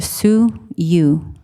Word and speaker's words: Suyu: place of Peter Burnett sue you Elementary pronounced Su you and it's the Miwok name for Hawk the Peter Burnett site